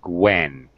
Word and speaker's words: Gwen: This name, it's common English name, it's Gwen. Gwen. Gwen. Gwen. Okay. G sound is silent. Gwen. No, no. The G and the W are pronounced Gwen.